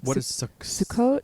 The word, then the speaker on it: Sukkot: Yeah, Sukkot. So that's the Ashkenazic pronunciation.